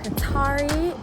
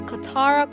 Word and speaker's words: Katara: Next up, guys, is the city of Qatari. It is a city inside of Doha, and we are having a guided 15-minute walkthrough. So let's check it out. So guys, correction, it's actually pronounced the Katara Cultural Village.